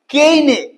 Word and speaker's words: Caine: দেখবে যে বই লেখা, লিটারেচার, এগুলোর সাথে যুক্ত কোনো কোশ্চেন। যেমন ধরা যাক Booker prize, Pulitzer prize, women's prize for fiction, কেইনে, নাম শুনেছো? CAINE, কেইনে বা কেনি, যেমন খুশি উচ্চারণ করতে পারো, কেনে prize, Hugo award, HUGO, Hugo award, কিছু আননোন।